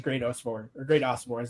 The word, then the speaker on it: Great Osobor: And obviously, the one correlation that you have with both those schools and now Washington is Great Osobor is the correct pronunciation on that.